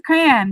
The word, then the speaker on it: crayon: It's a crayon, like cranberry.